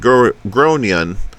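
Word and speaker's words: Gráinne: and I said well in Ireland they typically pronounce it like G groan her face went red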